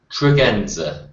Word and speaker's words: Tregenza: your last name properly trienza okay that was my guess but I wanted to be sure yeah it's one of his OD names it is actually said exactly how it's spelled and how it's obvious